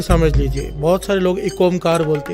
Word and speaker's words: एक ओंकार: बहुत सारे लोग एक ओंकार बोलते हैं, बहुत सारे लोग अलग अलग तरह से बोलते हैं। असल में इसकी प्रोनाउंसिएशन इस प्रकार से है, एक ओंकार।